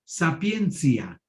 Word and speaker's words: sapientia: La ciencia más alta en Roma era la Sapientia. En la Edad Media es la misma palabra que usan en Roma, nada más que la pronuncian sapiencia.